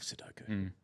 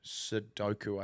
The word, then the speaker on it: Sudoku: Love sodoku. But did I pronounce it wrong? Sukco. Sudoku, I think it is. I think you're right. The O and the U.